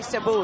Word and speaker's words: Cebu: up it's a porous from both in the Cebu City is that how you pronounce it caribou is actually Cebu yeah it's about an hour flight from Manila